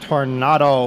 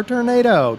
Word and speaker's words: Tornado: we are up board our panavia tornado or tornado depending on how you want to pronounce it she not a pretty